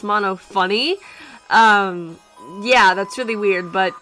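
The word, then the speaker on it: Monophanie: mention this real quick I merely mono afine is pronounced mono funny yeah that's really weird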